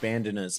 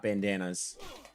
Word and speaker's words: bandanas: It's definitely pronounced bandanas, by the way. Not bandanas. Got to put the right emphasis on the right syllable.